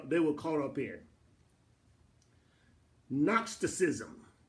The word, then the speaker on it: Gnosticism: Gnosticism is spelled with a G.